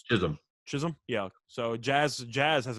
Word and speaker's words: Chisholm: has been okay is that i forgot to pronounce that it's just chisholm yeah so jazz jazz has been pretty good